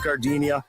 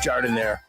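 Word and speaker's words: giardiniera: And guys, when you're at the counter, don't call it Gardinia. It's pronounced jardinire.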